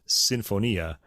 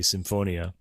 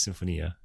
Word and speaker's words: sinfonia: sinfania by the way the pronunciation of that word Italian anyway is Sinfonia Americans often say Symphonia but um it is Symphonia okay Stephania cuatro aquatro